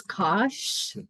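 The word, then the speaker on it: Kosch: I think it's Kosh, like K-O-S. K-O-S-C-H. It's hard, yeah, Who? Kosh.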